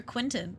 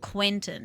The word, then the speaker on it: Quenton: confusing unless you're a Quinton are you a Quinton my is very much a Quenton he wants you to say it the right way he wants you to pronounce that e but he is the